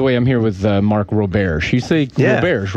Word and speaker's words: Roberge: us by the way I'm here with Mark ro-bear she see yeah bears right thank God that's an amazing last name he's for pronouncing it so anyway you went to Ohio